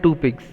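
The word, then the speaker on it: tupik: TOU जो है इसका प्रोनाउंसिएशन जनरली होता है two pigs.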